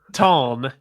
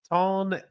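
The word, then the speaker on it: Taln: How do you say it? Ton the Herald. Ton is Ton the Herald. Okay, I'm gonna start over.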